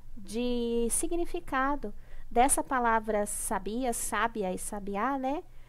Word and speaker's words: sabiá: significado dessa palavra sabia sabiá sabiá né a mudança da sílaba tônica em cada uma das palavras e a mudança do significado que elas tinham por causa